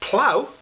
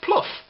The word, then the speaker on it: plough: it's hard for example tough t-o-u-g-h is pronounced tough why therefore is plough p-l-o-u-g-h not pronounced pluff i don't know i'll invent language but that's the way it is tough and plough they look alike pronounced very different maybe the americans have